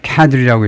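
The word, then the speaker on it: cadre: 이스라엘이 the 그 group 시니어리 시니어 카드리라고 읽은 겁니다.이 간부진들 집합명사로이 그룹의 헤즈벌라의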